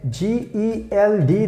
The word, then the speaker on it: Geld: G-E-L-D. That means we pronounce like Geld.